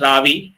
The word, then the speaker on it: Ravi: Looks like my kind of name, but it is pronounced as Ravi.